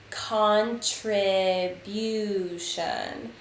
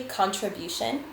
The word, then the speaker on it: contribution: precisely you might say contribution we would say it quickly contribution and that will become a schwa but it's an eye